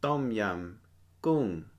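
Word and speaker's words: ต้มยำกุ้ง: Pronounced tom yum goong.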